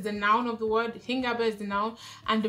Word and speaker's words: Hingabe: So, the German word for today is Hingabe. Yeah, Hingabe, spelled H-I-N-G-A-B-E. That's what Hingabe is spelled.